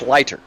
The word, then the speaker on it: Sliter: Oh, I still said it wrong. It's Sliter.